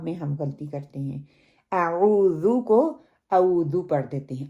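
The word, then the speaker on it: أعوذ: پہلا کیا ہے کہ عام طور پر تلفظ کے لحاظ سے 2 غلطیاں اس میں پائی جاتی ہیں. اعوذ ہم کیا پڑھتے ہیں؟ اعوذ اعوذ. واو کو ہم پڑھتے ہیں عین کی جگہ پہ، حتیٰ کہ پڑھنا عین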